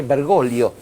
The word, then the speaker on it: Bergoglio: que el cardenal Jorge bergolo que es así como se pronuncia Aunque de a quién